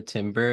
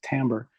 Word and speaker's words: timbre: I think most people pronounce it timbre. I think it's a French word. I think that I mostly heard people pronounce it timbre.